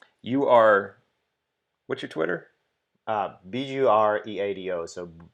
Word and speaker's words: Bureado: Bureado, so Burriado. It's difficult to pronounce in English, but search my name. It's there on the stream. In Spanish is Burriado, so it kind of rolls off the tongue.